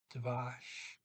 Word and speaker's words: tvers: This is Tavash. Sorry, Tavash. Tavash is softer sh.